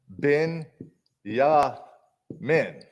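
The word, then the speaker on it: בנימין: And Jasper, Benjamin in Hebrew, his name is Ben Yamin. That's how it's pronounced.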